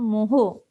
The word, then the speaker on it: mho: The unit of conductor was previously the moho, that is backward spelled of ohm, ठीक है।